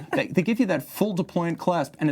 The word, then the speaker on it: deployant: Now, another element that I really like is that they give you a deployant clasp. And you can see it's a trigger-style release. Deployant or deployment? Deployant. Deployant.